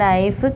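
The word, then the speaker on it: knife: കാൽമുട്ടിനാണ് നീ എന്ന് പറയുന്നത് അടുത്തത് നൈഫ് കെഐ കെഎൻ ഐ എഫ് ഇ നൈഫ്കെ silent ആണ് രണ്ടു വാക്ക് അപ്പ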